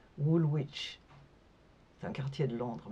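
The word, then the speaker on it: Woolwich: je voulais aller à Woolwitch. C'est un quartier de Londres mais en fait on ne le prononce pas Wolwich. C'est Wich et je savais pasin.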